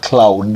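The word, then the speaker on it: Claude: The other one is cloud. Cloud. And this is not cloud like it's not the cloud in the sky.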